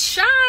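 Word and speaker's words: Chy: It's Shy. You guys keep spelling her name wrong. It's C-H-Y, not S-H-Y.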